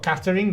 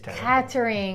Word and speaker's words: catering: food no they're not but catering yeah cattering it isn't it's such an ugly word and so they do